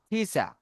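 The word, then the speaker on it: teacher: শেষে আর থাকলে শব্দের শব্দের শেষে আর থাকলে আর টাকে আমরা উচ্চারণ করবো না টিচার টিচার টকে বলবো তাহলে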